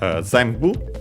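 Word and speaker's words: ぜんぶ: Then we have zambu. Uh by the way as a reminder that N becomes M uh because of the following B and so uh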